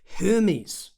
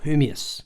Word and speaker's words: Hermeus: stuff for you today Hermes what is Hermes or hermius I should actually pronounce it properly is a Hypersonic passenger